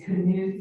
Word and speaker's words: Knuth: First is a correction, this is Knuth Road. It's a hard K. The Knuth family, one of whom was a mayor in the past. This is not the modern night pronunciation, it's the old, Scandinavian Knuth.